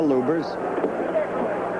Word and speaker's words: Lubbers: Muhammad Ali against Rudi Lubbers. Or Lubbers. It's pronounced both ways. Lubbers is probably more technically correct. Anyway, it's the way Rudi wants it said.